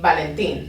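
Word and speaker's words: Valentín: say valentin i'd say valentin like it's just it's it's short it's quick it's a soft b sound valentine okay so let's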